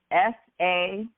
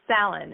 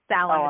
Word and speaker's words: Sallin: S-A-L-I-M? No. Salim. So Sallin. It's S as in Sally or Sam, A-L-L-I-N. So Sallin. Sallin is how you pronounce it.